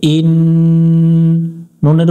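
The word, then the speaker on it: إني: পড়ে আমরা সহি করে নিব হামজা নুন জের ইন নুনের উপর তাসদিদ এই নুনে গুন্না করা ওয়াজিব এখানেও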